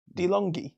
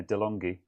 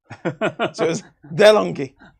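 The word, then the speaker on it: De'Longhi: just went now coffee machine dumas says my pronunciation is correct dilongi yeah delonghi oh okay yeah fair enough uh good i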